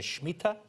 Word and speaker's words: Shemitah: Now, one of the questions that they have to give me, they say, what is the mystery of the Shemitah?